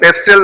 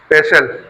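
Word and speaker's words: pestle: पेस्टल नहीं होता बेटा। पेस्टल टी साइलेंट पेस्टल तो वह होता है।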